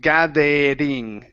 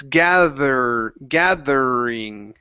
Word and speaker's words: gathering: Okay, so you're using a hard R, saying gathering, ding. Instead of gathering, it's gathering. Gathering. Okay, all right, so ER endings that end with an ING are challenging for you to pronounce a good R. Okay, so let's try this. I want you to hold that R. We're going to say gathering. Gathering. Hold the R.